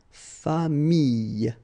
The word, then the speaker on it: famille: So with this E vowel, then you get the Y, okay, but then you will pronounce this E, so you get famille, okay, famille, all right.